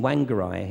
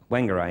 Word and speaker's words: Whangarei: So she was in Whangarei in New Zealand. I think that's how you pronounce it. And how'd you say it? Whangarei, yeah, that'll work.